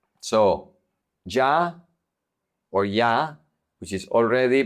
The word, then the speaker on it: soy: If the Y is at the end of the word, it's pronounced like a vowel.